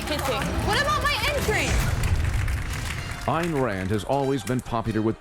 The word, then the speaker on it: Ayn Rand: Ayn Rand, not Ayn Rand. Ayn Rand, Ayn Rand. I'm told it's Ayn Rand.